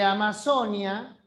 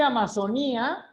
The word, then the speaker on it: Amazonía: Porque Amazonia, es que sí, se puede decir Amazonía y Amazonía lleva tilde. Yo, por ejemplo, siempre escribo Amazonía y siempre digo Amazonía. Así como digo video o digo fútbol.